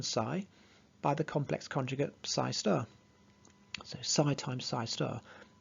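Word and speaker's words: ψ*: that with this asterisk you'd pronounce that psi star the complex conjugate so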